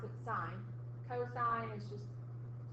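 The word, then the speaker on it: sine: these ratios sign spelled like s but you pronounce it sign coine is just C and tent is just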